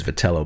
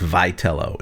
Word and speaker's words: Vitello: I just kind of always have read it as Vitello, but it's Vitello. It's Vitello.